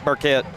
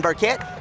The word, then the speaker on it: Burkett: Did I say it right? Yep. Burquette. Burquette. Ryan Berquette. Warriors going fast here.